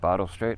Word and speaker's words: Bartle Street: It's Bartle Street over there.